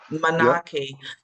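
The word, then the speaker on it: manaaki: real so beautifully that you have before manaki um you know within the kuana so it's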